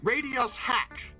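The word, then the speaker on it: RadioShack: from Radio Shack to radios hack okay it's still pronounced Radio Shack they just removed the space and in '96 they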